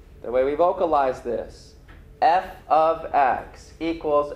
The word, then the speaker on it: f(x): Again, this is f of x. That's how we pronounce it.